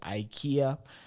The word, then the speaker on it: IKEA: a lot of stores talk about EA you know EA you know the Swedish brand you know uh maybe you guys pronounce it uh pronounce it as Ikea you know that brand